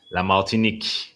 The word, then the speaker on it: Martinique: La Martinik.